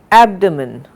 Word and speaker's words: abdomen: Abdomen, we do not say abdomen, we say abdomen.